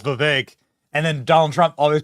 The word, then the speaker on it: Vivek: It's Vivek.